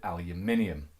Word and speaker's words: aluminium: rest of the English-speaking world we call it aluminium, and why perhaps neither of those are the most appropriate name after all.